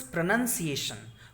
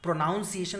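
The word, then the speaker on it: pronunciation: This is प्रोनंसिएशन। प्रोनाउंसिएशन वगैरह मत बोलना है इसको, प्रोनंसिएशन।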